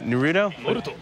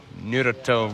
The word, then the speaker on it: Naruto: you know in Rowlett what is it it's Naruto you're the top just say it like that oh they're gonna grill